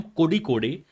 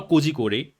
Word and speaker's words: Kozhikode: तो this video is आई एम कोडी कोडे या कोडी कोड और कोजी कोडे, सारे प्रोनाउंसिएशन सही होते हैं। ऐसा नहीं है कि आप जो प्रोनाउंस करते हो वही प्रोनाउंसिएशन सही है।